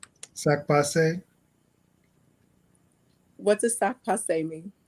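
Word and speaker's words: sak pase: Laroche, I'm gonna say sac passe.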